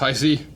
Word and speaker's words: HiSea: It's pronounced Hisea.